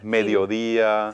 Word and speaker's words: mediodía: And you'll notice words right away that start to rhyme with fotografía, Alegría, alegría, mediodía. filosofía. All of those etcétera. ia ending words use an accent on the I.